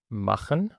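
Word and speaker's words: machen: مخن، ده اول ما نشوف بعدها تسيها فده يبقى معناها ان احنا ننطق تسيها خ، يبقى مخن او كخن او بغاوخن.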